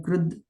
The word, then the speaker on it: कृत्: So here they have written Krud, but we generally pronounce it as Krut only. So I do it like Krut T, but here it is written Krud.